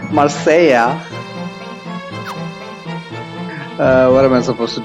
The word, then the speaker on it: Marseille: I was surprised the other day that Marseilles is called Marseilla.